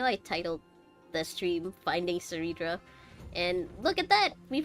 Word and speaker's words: Cerydra: But in light of your unique identities, I'll allow you to address me by my real name, Cerydra. On Cerydra, behalf that's of how my you pronounce people it.